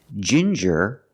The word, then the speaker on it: ginger: you have different pronunciations with ginger we use the J sound like juice and jump J and the regular n Jin Jer Ginger people like to drink